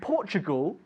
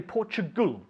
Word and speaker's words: Portugal: Good, and we say Portugal. Portugal, not Portugal. Portugal, the A is silent.